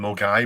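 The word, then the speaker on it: Milngavie: a list of the different stores there and more guy was written m-u-l-g-u-i well that is proper spell m-i-l-n-g-a-v-i-e but it is pronounced Dale we we with a guy when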